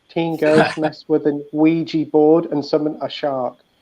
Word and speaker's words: Ouija: Teen girls mess with an Ouija board and summon a shark. I had trouble pronouncing that, but I think I got away with it.